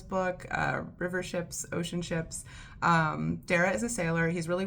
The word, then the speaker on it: Darragh: It's Darragh, which in my head I would always just read as Dara, but Neil might have intended a different pronunciation, and I don't know Neil, but I'm using his first name.